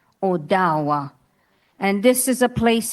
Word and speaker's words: Ottawa: And Ottawa Owa. That is how you say Ottawa. Oawa.